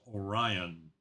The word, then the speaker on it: Orion: And again, uh, correct pronunciation of my name is Orion. Thank you, Orion.